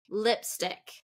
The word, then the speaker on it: lipstick: next one lips stick lipstick okay so that one is first syllable stress lipstick and that's a